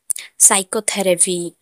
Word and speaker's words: psychotherapy: साइकोथेरेपी, PSYCHOTHERAPY, साइकोथेरेपी। साइकोथेरेपी में एस से पहले पी आया है तो पी साइलेंट होगा।